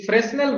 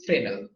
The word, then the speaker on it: Fresnel: कोई फ्रेस्नेल बोलते हैं, लेकिन इसका सही प्रोनाउंसिएशन इज फ्रेनेल, ठीक है।